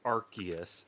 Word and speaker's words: Arceus: accept that the council has decided it's pronounced Arceus, but given that it's a stupid ass decision, I have don't elected even to think- ignore it.